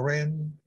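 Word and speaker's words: 人: L'ideogramma uomo si pronuncia Ren, secondo tono.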